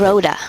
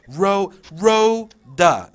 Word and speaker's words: Rhoda: Rhoda. Rhoda, okay. Yeah. Rhoda, 2 syllables.